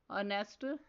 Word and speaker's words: honest: Words are honest, ghost. Next silent letter is S.